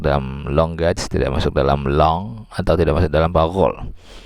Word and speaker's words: langue: Oke, itu mungkin kira-kira cara membedakan bahasa yang langoi, atau yang konsep awalnya langage dulu atau language bacanya, kemudian langoi bacanya long, kemudian parole bacanya parol.